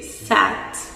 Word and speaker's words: saat: Ensuite, un mot qui peut vous être utile, c'est saat, qui signifie l'heure. Saat, ça s'écrit S2AT.